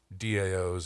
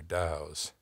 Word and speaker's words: DAO: interesting and advantageous about daos or dows I don't I kind of like the Dow pronunciation because it has this vaguely oriental wisdom sound to it let's take a short